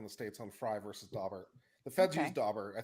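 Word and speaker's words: Daubert: too isaac bowles if someone says pronounced doe bear fine i learned it as dabert it will always be dauber to me i live just outside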